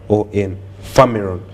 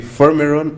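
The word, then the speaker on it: Firmeron: Famiron. So it could be Fermiron or Famiron, depending on your pronunciation.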